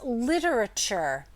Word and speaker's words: literature: This is a schwa sound, and so that might be part of the reason why people leave it out. It's not a stressed syllable, and so it's easy to kind of forget that it exists.